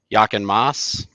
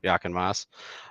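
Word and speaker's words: Jochen Mass: Lama driver, um, sports car race winner, uh, Yaken Moss. I believe that's how you say it. Yep, that is. Yep. Yep. Yaken Moss.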